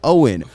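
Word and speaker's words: Owyn: that is on me it says in big yellow letter pronounced like owen o w y n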